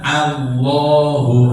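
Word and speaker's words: الله: membaca, sehingga waktu sholat takbirnya Allah, bukan Allah, tidak ada Allah itu Allah. Jadi A-nya itu tetap A, bukan berubah jadi O.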